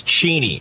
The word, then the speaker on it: Cheney: it's not dick cheney cheney that's exactly it's cheney it is next thing dave you're going to